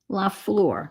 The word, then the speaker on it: Lafleur: Her name is Gwen Lafleur. Lafleur. Gwen Lafleur. And Lafleur, I do believe, is flower in French, like fleur-de-lis. So it's Lafleur. And the fleur, as in fleur-de-lis, is spelled like that floor.